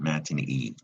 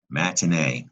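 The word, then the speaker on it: matinée: a sound comes from that's pronounced in French matinee not Mattoon EE so that explains the a sound in the word we use in English matinee which is a daytime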